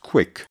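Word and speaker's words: Qwiic: hard to remember but it's actually pronounced quick this quick connection refers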